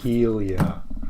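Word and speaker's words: Hylia: Helia. No, this is incorrect. The Helia? Wrong. Helia. Like I'm gonna heal you.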